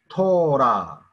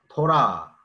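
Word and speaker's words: תורה: 이게 해가 발음이 안 되거든요. 그죠? 예. 그래서 토라, 토라, 그죠?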